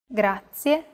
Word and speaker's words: grazie: Do you remember the trilled R? We talked about it in lesson 2. Even though it looks like the English R, the pronunciation is very different. Listen to how Marika is pronouncing this sound. Rrr. Rrr. Altogether, it's... Grazie.